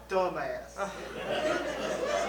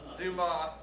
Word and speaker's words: Dumas: Alexander dumbass and all. Yeah, Billy, but son, listen. The man's name is pronounced to Ma, okay? Not dumbass. To Ma, okay? Say that. Dumas.